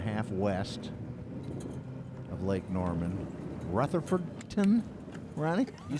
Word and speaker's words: Rutherfordton: Matt Airy just texted in saying that the locals call it Ruffton. Ruffton? Ruffton, instead of Rutherfordton. Too many syllables. They just simpled it. Oh, similar to Louisville. Louisville, yes. Simplified it down to 2 syllables.